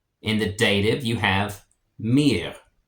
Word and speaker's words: mir: In the dative, you have mir. And German R is kind of pronounced in the back of the throat a little bit, so it's not mir, it's mir.